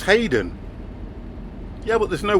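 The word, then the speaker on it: Haden: spelled his name h a d e n Haddon okay and he said it's pronounced Hayden so I'm gonna go right I'm gonna say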